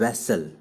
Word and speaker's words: vassal: दोनों के स्पेलिंग में डिफरेंस देखा आपने, ये क्या है, VASSAL, वैसल, तो ये हो गया क्या, गुलाम।